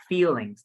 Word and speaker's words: feelings: BN hold on mixed feelings not feelings it's feelings mixed feeling feel feelings feeling yes the the is the e is a bit longer okay okay bone bone